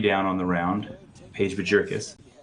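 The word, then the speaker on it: Bjerkaas: Paige Bajurkis. How do you say the name? Yeah, that's right. Bjurkis. Yeah, I think the J is silent in there. Bjorkis.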